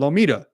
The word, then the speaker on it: Lometa: There's no other way that you would pronounce it. It's got M-A-T-A or M-E-T-A, right? Lometa, maybe, but it's called Lomita.